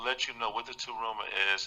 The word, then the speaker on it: Tarumah: Download the Taruma app. It's spelled TARUMAH.